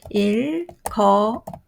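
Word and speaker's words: 읽어요: How do you pronounce? 일거요.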